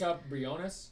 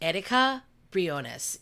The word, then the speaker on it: Erika Briones: She taught me how to say her name because I couldn't say her name, and she like taught me like she's Erika Briones. Erika Briones.